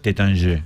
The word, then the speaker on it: Taittinger: La bodega se escribe Taittinger, pero se pronuncia Tétanger.